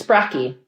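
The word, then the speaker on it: Sprakki: Yeah, the singular is Spraki. Spracky.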